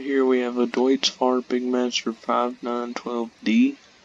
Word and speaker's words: Deutz Fahr: It's Deutz Fahr, just like that.